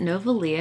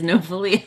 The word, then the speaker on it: Novely: uh, is it Novalia? Have I been saying it wrong this whole time? The way I read it, it was like Rosalie and Novely. So I'm sorry if I've been saying your name wrong this whole time. Is it supposed to be like Novalia? I'm so bad with these guys. I'm sorry. It is Novely.